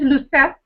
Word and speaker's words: Lucette: But yes, my name is Lucette, with a silent E, and I'm from Curacao, one of the Dutch Caribbean islands here in the Caribbean Sea.